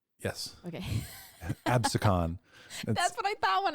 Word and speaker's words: Absecon: and Lighthouse um did you look up that pronunciation yes okay abson that's what I thought when I read it I was like AB I've heard so I watch YouTube videos and people say absin so I'm gonna say epsen today yeah videos